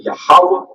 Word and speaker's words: Yahweh: So the way you pronounce this in the Paleo Hebrew is Yahweh, and you say it Yahweh, and this is Yahweh Shai, Yahweh Shai, Yahweh Shai.